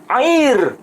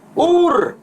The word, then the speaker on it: Ur: Tapi di sini kan tidak tertulis air Kasdim, tapi tertulis Ur Kasdim. Pakai alef, bukan ain.